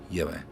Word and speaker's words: Yahweh: And then the next two Hebrew letters is Vav, Hey, or W, Hey, like wet, W-E-T, I would say weh. And I put those two together without the T's, Yahweh.